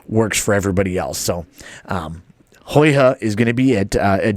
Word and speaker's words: Huyghe: Let's see if I can pronounce this right. It's Huyghe. And I did do some research on it, so I did look it up. Huyghe is what they have gone with.